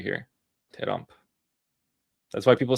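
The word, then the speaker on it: ترامپ: Terrump. That's why people say ter because it's pronounced ter.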